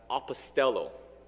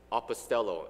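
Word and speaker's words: ἀποστέλλω: word is pronounced as apostello apostello and if you listen to this word carefully then you should remember that this word sounds very close to the word apostles and that's because they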